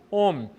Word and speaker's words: Ohm: aqui com você é a palavra aí ó Ohm uma palavrinha diferente mas que se pronuncia homem a lei de homem diz o seguinte né